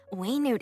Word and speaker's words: Wenut: it's pronounced Wow. Waynute. I've been That's saying quite the Wenut.